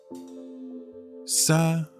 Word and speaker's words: Sahuagin: Sahuagin. It's who again?